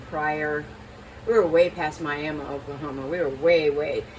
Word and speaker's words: Miami: blue jacket in Prior we were way past Miami Oklahoma we were way way it looks like it say it's Miami but it's pronounced miam it's the miam tribe so anyway